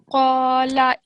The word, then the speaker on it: قال: قال Okay, first of all, I want you to remember this is not a kaf, it's a qaf. Okay, so try and make this sound a little bit thicker when you're saying it. قال إنه Good.